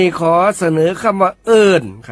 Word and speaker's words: เอิ้น: ขอ เสนอ คำ ว่า เอิ้น ครับ เอิ้น เขียน สระ เออ อ่าง สระ อิ ไม่ โท น หนู รวม กัน แล้ว อ่าน ว่า เอิ้น ครับ เอิ้น เป็น คำ